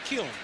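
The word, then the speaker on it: Kiln: from Kil, Mississippi. He said there's an N on the end and a kill, but you don't pronounce it. You just say kill.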